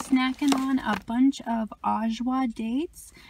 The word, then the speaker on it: Ajwa: So now, you guys, I'm just snacking on a bunch of Ajwa dates. It's spelled A-J-W-A, Ajwa dates, and they are so delicious.